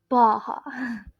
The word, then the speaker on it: Baja: This is because the J in Spanish is pronounced the H sound in English. So Baja is pronounced Baja.